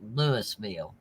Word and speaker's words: Louisville: yes Louisville Kentucky Louisville his middle name is Lewis so you know it has to be pronounced Lewisville discovering we deal with